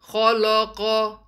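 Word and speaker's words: خَلَقَ: Kha is heavy, lam is light, and qaf is heavy. Make sure your lam remains light. Khalaqa. Don't say khalaqa. The correct word is khalaqa.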